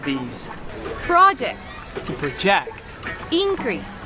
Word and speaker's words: project: onto that yellow wall you notice the difference in the noun you put it in the first syllable but if when it's working as a verb you put it in your second season and then in that case your pitch goes higher in the technical or in the first one depending here are some